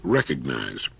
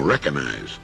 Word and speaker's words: recognize: use of the word recognize time and again I hear people saying recognize there's a letter g in there and it's supposed to be pronounced now you don't have